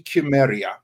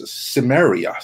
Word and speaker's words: Cimmeria: In my it should be Chimeria. That's how the correct pronunciation really is.